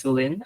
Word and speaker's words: Sulin: Uh my name is Sulin. Uh so pronounce it you can pronounce as a longer Sue uh with Lin.